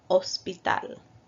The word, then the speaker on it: hospital: H in Español, like hospital, hombre. As you can see, we do not pronounce the H in these examples. So in English you would say hospital, but in Spanish we say hospital.